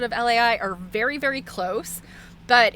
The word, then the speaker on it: Lai: Um, it's said that the Italian version is pronounced a little bit like the word lie, except that you kind of put this a aish sound in there and you kind of stretch the end.